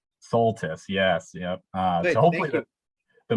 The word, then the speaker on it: Soltisz: Yes, that's pronounced correctly, which, speaking of pronunciation, just want to make a quick clarification. My last name is Soltisz. Soltisz, yes.